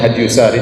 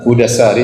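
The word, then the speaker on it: هدى الساري: Sebagian orang bacanya Hadyyusari. Tetapi yang benar Hudasari sebagaimana ditasykil diberi harakat langsung oleh Ibnu Hajar rahimahullah, penulis buku.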